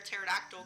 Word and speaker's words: pterodactyl: impossible to hear a pterodactyl going to the bathroom because the p is silent this book if you